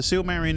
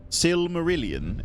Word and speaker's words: Silmarillion: The Silmarillion is wild.